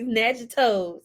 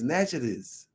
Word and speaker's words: Natchitoches: Snatching toes.